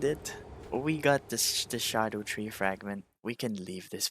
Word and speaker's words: Scadutree: I used to call it Scaduchi fragments, but apparently it's pronounced as shadow tree fragments.